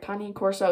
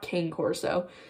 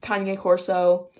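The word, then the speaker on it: Cane Corso: i'm butchering that name i still don't really know how to pronounce it i'm gonna that's how akane corso breeder pronounced it though so i'm pretty sure i'm pronouncing that right kanye corso it's not king corso that's very bad but kanye corso i wanted one and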